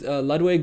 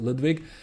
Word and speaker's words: Ludwig: lwig uh you can you can tell that I that I used to speak that I've studied German at some point because by by naturally I I pronounce it Ludwig but um yeah I've